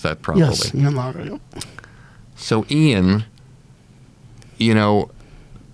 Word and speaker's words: Ian Lara: So what he just said about Ian Lara, I hope I pronounced that properly. Yes. Ian Lara.